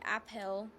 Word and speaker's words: Appel: have a apple named Appel Appel I don't know it it's said like that it's spelled weird but you say it like apple still but it's spelled